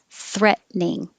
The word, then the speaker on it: threatening: The shortest way with just two syllables, threatening.